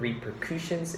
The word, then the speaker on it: repercussions: Don't make a hard U sound, repercussions. It should be repercussions, the vocabulary word today.